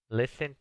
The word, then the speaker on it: listen: Number five, listen to music, escuchar música. Listen to music. Noten que la T no se pronuncia.